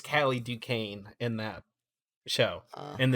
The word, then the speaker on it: Duquesne: And it's Callie Duquesne in that show. And it's spelled exactly the same. So yes, it's Duquesne.